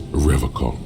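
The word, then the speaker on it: Revachol: I've been tempted on occasion, but someone has to stay strong for Revocol. He pronounces Revocol with a hard K, unlike other people.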